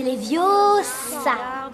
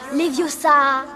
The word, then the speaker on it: Leviosa: Et puis d'ailleurs, tu ne sais même pas le prononcer. C'est Leviosa. Et pas Leviosa.